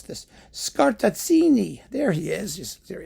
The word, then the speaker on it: Scartazzini: And the project is to mix the Mahler symphonies with works inspired thereby by one Andrea Lorenzo, how do you even pronounce this? Scartazzini.